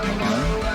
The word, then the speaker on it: Malone: It probably rhymes with alone. Malone?